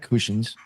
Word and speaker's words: Kushins: Tonight we're joined by journalist, author, and publisher Kusins. Am I saying your last name correctly? I don't even know. You did. You did.